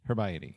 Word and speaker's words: Hermione: I'm going to pronounce it wrong. That's okay. Hermione. Hermione. Hermione.